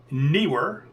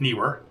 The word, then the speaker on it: Neewer: This is the newer or newer. I've always pronounced it new were quick release plate that